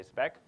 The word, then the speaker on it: SpEQ: be presenting our work spec so that's how you say it you say spec um and yes so